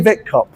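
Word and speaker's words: Witkop: Uh Millie Millie Millie Millie Vicop. That's V, just a W pronounced V.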